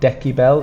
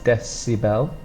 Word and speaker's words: decibel: again of the C so it's not a k it's not deki Bell it's decibel we spell it with a